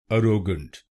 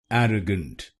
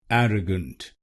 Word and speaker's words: arrogant: a r r er er er in wrong pronunciation we pronounce this syllable ar so you should not pronounce this syllable ar you should pronounce it er er pronounce the second syllable i.e.